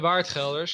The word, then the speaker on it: Waardgelder: the he shipped the Waardgelders. The Waardgelders, yeah. It's quite nice. We can show off our Dutch pronunciation.